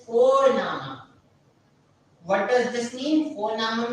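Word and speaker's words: Vorname: How we pronounce it? It is Fornama.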